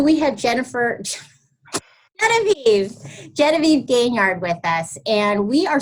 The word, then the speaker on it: Gaignard: I get it wrong I pronounce it gain yard gaining yardage like football there I don't know